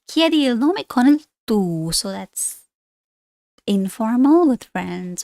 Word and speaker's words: tu: Don't ever say tu. It's not French. Tu.